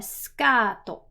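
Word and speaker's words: スカート: The last two come from English, so we have a skato. Skato. Once again, the u sound gets dropped here.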